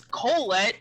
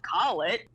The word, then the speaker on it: Colette: It's Colette, not Collet, and there's no E to make it a long O.